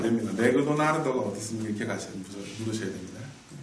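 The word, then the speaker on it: マクドナルド: 맥도날드인데 일본 사람들은 이렇게 발음을 못합니다. 뭐가 발음이 안 돼요? 얘가 발음이 안 됩니다. 어떻게 읽을까요? 그냥 따로 독립해서 읽어요. 을을 붙여줍니다. 그러면 발음하면요. 맥도나르드가 되죠. 맥도나르드. 정확히는 맥도나르도라고 읽는데. 그래서 발음이 달라요, 완전히.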